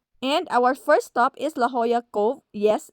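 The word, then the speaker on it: La Jolla: our first stop is La Hoya Cove. Yes, it's pronounced as La Hoya, not Lajola, which is 40 minutes drive from our uncle's place.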